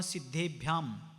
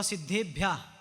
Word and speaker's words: सिद्धेभ्यः: नमः भी नहीं नमः ओम नमः सिद्धेभ्या नहीं सिद्धे नहीं सिद्धेभ्यः नहीं सिद्धेभ्यः भ और य दोनों को जोड़कर आगे विसर्ग सिद्धेभ्यः सिद्धेभ्यः भ्यः सिद्धेभ्यः सिद्धेभ्यः